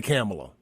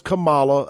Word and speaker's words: Kamala: some stuff on Camala I will not say camela her name is Camala again I'm from the